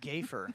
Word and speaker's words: gaffer: It's pronounced gayfer. yeah. I That's the 90s way to yeah.